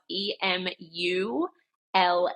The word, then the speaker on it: Emulait: um emul is spelled e m u l a i t it's like emulate you're emulating the breast but it's a play on the French word for milk which is leay so